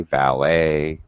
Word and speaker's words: valet: It sounds like an A-Y ending. The T is, it's very weird. It's an E-T ending in English when we write it. But when we pronounce it, it's A.